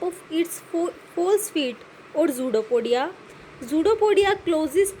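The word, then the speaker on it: pseudopodia: तो जूडोपोडिया की यहाँ पे आप स्पेलिंग देख रहे होंगे कि पी लिख रखा है स्टार्टिंग में। ठीक है, स्टार्टिंग कहाँ से हो रही है? पी से हो रही है जूडोपोडिया की। लेकिन मैं इसको बोल रही हूँ जूडोपोडिया, तो इसका मतलब इसके अंदर क्या है? पी साइलेंट है। तो आप क्या प्रोनाउंस करोगे इसको? जूडोपोडिया। जूडोपोडिया क्लोजेस टू फॉर्म ए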